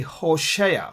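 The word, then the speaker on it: הושע: sorry has kill right Hosea Hosea in English in Hebrew it would be Hoshea hosea joel is Yael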